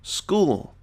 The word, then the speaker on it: school: School. So notice here, this doesn't follow the usual. You don't hear an O, but you hear a new sound, oo.